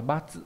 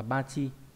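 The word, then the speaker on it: 罰: Âm ôn đọc là batsu hoặc là bachi.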